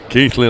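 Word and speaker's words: Keighley: I was never sure how to pronounce it. Keithley, lad.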